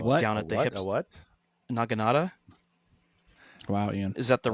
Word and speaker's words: Naginata: Naginata? Wow, Ian. Is that the right pronunciation?